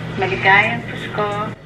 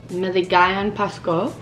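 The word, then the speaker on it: Maligayang Pasko: Joyce taught me last night, but I forgot how to pronounce it properly. Maligayon Pasko. Maligayon Pasko.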